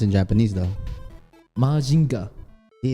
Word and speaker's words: Mazinger: Wait, so Mazinger, how is it pronounced in Japanese though? Majinga.